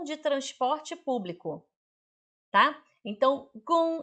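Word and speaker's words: 公: Então, gung é G-O-N-G.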